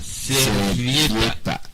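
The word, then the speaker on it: servilleta: Una servieta. Alright. Please repeat it again. Una servieta. Servieta. Servieta. Servieta. It's, if you want to pronounce it slowly, it will be servieta.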